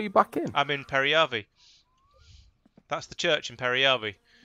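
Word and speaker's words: Peräjärvi: Periyavi.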